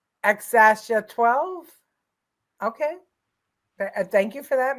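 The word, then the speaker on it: X Æ A-12: thought it was just x xsh 12 the x is pronounced like the letter X and the a is pronounced Ash xasha 12 okay thank you for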